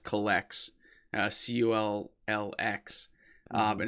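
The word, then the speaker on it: Cullx: kind of help with uh pricing called it's pronounced collects uh c-u-l-l-x uh but it's pretty much just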